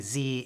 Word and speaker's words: Z: me a hard time about saying Z instead of Z I love Canada but Zed makes no sense z rhymes with the other letters that it's supposed to rhyme with there's also the last